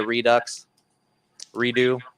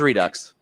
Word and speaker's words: Redux: which was the media redo. We never did figure out how to pronounce that. It was redux. It's Redux.